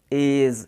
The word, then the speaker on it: edge: नॉलेज, यहाँ पर EDG एक साथ आया तो इसमें अपन ने डी को साइलेंट कर दिया। EDGE एज, अपन इसका बोलेंगे एज।